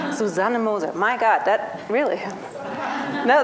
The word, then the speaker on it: Susanne Moser: This hasn't happened to me ever before, that someone introduces me with a German pronounced name. Susanne Moser.